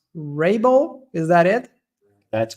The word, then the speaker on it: Raible: your surname but I believe it would be pronounced Rabel is that it that's correct awesome awesome got